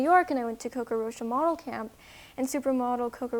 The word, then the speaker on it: Coco Rocha: So it was, I don't know how you pronounce the name in New York? Coco Rocha.